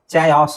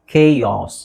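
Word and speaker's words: chaos: next ಇದು ಎಚ್ಚ ಅಲ್ವಾ ಚಯಾಸ್ ಆಗುತ್ತಾ ಇಲ್ಲ ಇಟ್ಸ್ ಕೆಸ್ ಕೆಯಸ್ ಕೆ ಯಾಸ್ ಕೆಯಾಸ್ okay so ಇಫಿಟಮಿ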